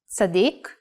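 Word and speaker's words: צדיק: stroke last the letter sadiq if pronounced while putting the emphasis in the last syllable sadiq means righteous person or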